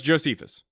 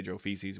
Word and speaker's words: Josephus: I've literally heard people try to say Joe feces, which is insane.